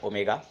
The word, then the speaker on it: ohm: सो द SI unit is ओम, represented by the Greek letter omega according to ओम्स लॉ। तो ये आप उसको pronounce करेंगे ओम, हम ओमेगा नहीं बोलेंगे, ओम ही बोलेंगे।